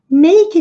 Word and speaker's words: make: Make each other. Aqui o E não é pronunciado, termina com som de K.